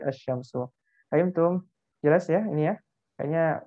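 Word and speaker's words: الشمس: memudahkan kita untuk membacanya jadi dibaca Syamsu bukan ada jam sebagai asy-syamsu ayam tepung jelasnya ini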